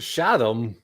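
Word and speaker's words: Shaddam: walken is playing emperor chatham shadom i think it's shadow in the in the lynch movie it's pronounced shadow shot him paul you have got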